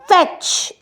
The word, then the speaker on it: fetch: তারপরে হচ্ছে কি ফেচ, FETCH, টিটা কোনো ডিরেক্টলি প্রোনাউন্সড হচ্ছে না।